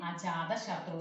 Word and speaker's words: Ajatashatru: Remember how to pronouncing Ajatashatru, son of Bimbisara.